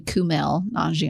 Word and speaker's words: Kumail: was saying it wrong I was saying Canal non Gianni but it's actually Kumail it's Kumail yeah okay well that's right